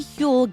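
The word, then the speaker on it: Huel: Fortunately, Hule gets it, too. It's spelled H U E L.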